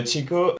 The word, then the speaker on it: Tjikko: we are playing a game just essence of tajiko tico is there a particular pronunciation of that it's like my name designed to be misspelled no chico it is the oldest tree on earth this